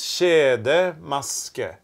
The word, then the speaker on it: kjedemaske: So the way to pronounce this is kjedemaske.